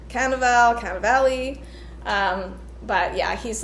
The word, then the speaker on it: Cannavale: Here we go with my pronunciation issues. I don't know if it's like Cannavale, but yeah, he's like, been in lots of movies.